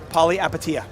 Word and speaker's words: Palihapitiya: Chamath's last name pronounced Palihapitiya.